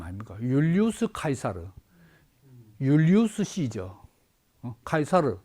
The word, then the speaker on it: 카이사르: 카이사르 원 발음이고 영어로 하면 시저지.